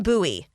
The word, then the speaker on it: Bowie: fun fact i like bowie i love the name it's just like buoy you know nice single syllable boom there it is